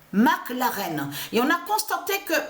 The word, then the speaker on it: McLaren: On sait que attention, parce qu'il faut bien expliquer, McLaren, ça se dit, souvenez-vous que je vous ai expliqué, mais Mac s'écrit M-A-C et plus loin, l'arène. McLaren.